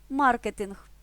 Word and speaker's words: маркетинг: кулінарія слово псевдонім дуже просто МІМ узяв псевдонім маркетинг Марк вивчає маркетинг а слова граблі жалюзі піалати